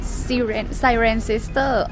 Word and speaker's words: Cirencester: St.John the Baptist, Cirencester. Hey, I asked the shop owner how to pronounce the town name. It's ci-ren-ces-ter. Not cee, but ci.